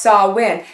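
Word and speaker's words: Samhain: h AI n but it's pronounced saw win and that was a Celtic pagan holiday saw win was seen as a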